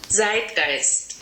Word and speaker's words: zeitgeist: a native German speaker my pronunciation is not perfect so this is what it sounds like on Google Translate zit gist so the meaning of